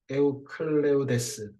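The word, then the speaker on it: 에우클레이데스: 이렇게 만들어진 것이 바로 에우클레우데스 유클리드라고 하는 것의 원래 발음이지.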